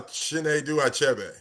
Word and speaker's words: Chinedu Achebe: Uh, Chen Dube.